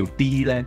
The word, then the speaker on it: D-REN: 好啊，咁啊呢一張咧，其實咧日文咧佢哋嘅讀音啊叫 D Land Sheet 呢個讀音嘅，咁之